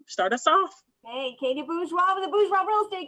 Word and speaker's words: Bourgeois: Hey, Katey Bourgeois with the Bourgeois Real Estate Group.